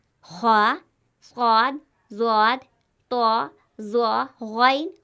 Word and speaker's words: غ: حرف ہے غین، غین۔ یہ حرف بھی پر پڑھا جاتا ہے، یعنی موٹی آواز میں پڑھا جاتا ہے۔ اس کا تلفظ حلق سے نکلنے والا موٹا حرف ہے۔ جب ہم غین کو ادا کریں گے تو حلق سے ادا